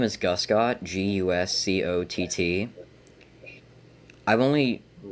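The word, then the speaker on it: Guscott: last name I wasn't my last name is Gus got GU SCO TT I've only it's only been pronounced correctly on the first try once I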